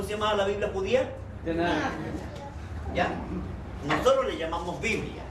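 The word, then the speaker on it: Tanakh: Y ahí ellos ocupan la T, la N y la K para pronunciar que la Biblia de ellos se llamaba así. Tenach.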